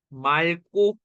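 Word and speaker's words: 맑고: 왔어요 그럼 어떻게 된다 발음이 말고죠 고라고 안 하죠 그죠 말고 요렇게 이해되지 예외로 기억이 떨어져 이해되세요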